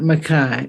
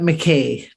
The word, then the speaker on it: McKay: Alex Galway and Scott Mackay and Scott McKay the slip there is due to my name was Makai spelled the same as McKay these three young men